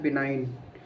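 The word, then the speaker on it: benign: बी इ एन आई जी एन बिनाइन की spelling होती है।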